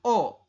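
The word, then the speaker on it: 어: Ke arah kiri menghadap ke lingkaran, menghadap ke iyeng, maka ini bunyinya adalah O. Tulisannya EO, tapi dibacanya adalah O ya Robun.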